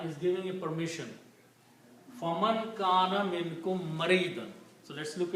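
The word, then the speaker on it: كان: And waw with the fatha is pronounced as alif, so this becomes kana.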